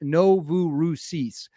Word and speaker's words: Novorossiysk: Sources say the Novaroski uh now I believe this is pronounced Novu Rousis.